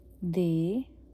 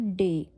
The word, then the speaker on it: D: so start करते हैं पहले ए से इट्स अ आ बे दे इट्स नॉट डे सो ड नहीं द इट्स दे लाइक उनको जैसे हम थर्ड थर्ड पर्सन को प्लूरल को बोलते हैं दे वैसे दे उफ ई